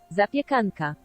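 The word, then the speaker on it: zapiekanka: Zapyanka. Zapyanka. Zapianka. There's a zapyanka. Zapianka. Zapakanka.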